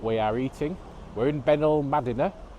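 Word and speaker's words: Benalmádena: are eating we're in benil madina i'm told that's a correct pronunciation on the south coast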